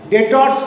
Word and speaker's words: debtors: The debtors, the word is, whenever you write the spelling, DEBTORS, B is silent.